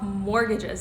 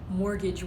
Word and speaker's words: mortgage: you ever wondered why it's spelled like this with a t but the t is silent it's actually because mortgage